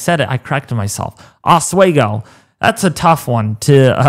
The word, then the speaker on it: Oswego: Oswego. That's a tough one to pronounce sometimes if you're not used to pronouncing names like me.